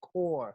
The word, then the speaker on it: Corps: with that thing it's spelled corpse but it's pronounced apple core like the Green Lantern Corps or the military